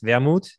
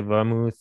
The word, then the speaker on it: Wermuth: I know there's the TH at the end, which throws off English-speaking people. The German pronunciation is Wermuth. Just easy without the TH at the end, but there's people who say Wermuth or whatever.